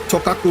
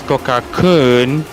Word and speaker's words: Tokakun: Tokaku. Oh, so sorry. It's actually Tokakun. Oh, okay. So it's actually pronounced as Tokakun.